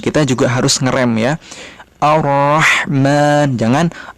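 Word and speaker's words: الرحمن: Di sini ada ra ditasydid. Cara pengucapannya ra-nya hanya 2 huruf ya, betul, 2 huruf sehingga dia harus direm, ditahan.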